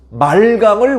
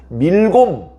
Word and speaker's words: 말감: 그래서 이제 거기 수도가 있었고, 그 다음에 암몬 사람들은 말감을 우상으로 섬겼어요. 말감. 오늘 말씀에는 말감이라고 나와요. 다른 성경에는 밀곰 또는 몰렉 이런 발음으로 표현하고 있는, 발음이 조금씩 다르지만 결국은 같은 신이에요.